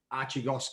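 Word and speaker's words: Archegos: there's talk about uh um a hedge fund archigos capital that's the way you pronounce it so they've they've defaulted on some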